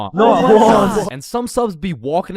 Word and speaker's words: Juan: That's just how it's pronounced. Jan, is there Jawan in the room? It's Juan. Juan.